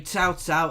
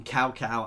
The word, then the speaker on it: Cao Cao: I'm saying Cao Cao as that is how I've been told to try and pronounce it, guys, rather than Cao Cao as I did originally.